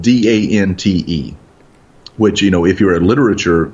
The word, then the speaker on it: Dante: There's a town that is spelled Dante, which if you're a literature fan, that's Dante. Dante's Inferno. Yeah, yes. Dante Alighieri. No, it's Dant.